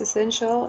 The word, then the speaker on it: essential: And the second one is essential. It has also 3 syllables. And the stressed one is the second one.